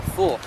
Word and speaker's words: få: Remember, don't pronounce it as an A. You lose so much and the understanding of the Norwegian will go out the window, should that be. So you gotta be like, or få, try it out with